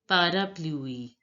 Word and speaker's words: parapluie: Now look, A you already know is pronounced as A in French. So A, here also A, and the U is pronounced as English alphabet U in French. parapluie, So it is pronounced as parapluie.